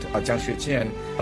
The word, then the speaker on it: Jiang Xueqin: And because my name is hard to pronounce, Nate could probably pronounce it, Jiang Xueqin.